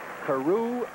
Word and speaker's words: Carew: to the 40 doom Carew Taylor interesting first names see a roo cube phenomenal pronunciation of Carew as in Rod Carew - scrimmage the